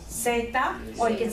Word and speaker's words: zeta: And then the last letter, Zeta. zeta. Zeta. Zeta. Like a C sound. But in España, there's that sound, like in thick, See? our TH sound, theta.